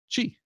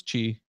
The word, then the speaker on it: Qi: source IAM which is chi which is spelled Qi by the way ya pronounce chi spelled Qi so it is now